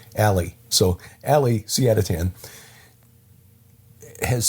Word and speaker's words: Ali: I've got to remember he pronounces his own name Ali.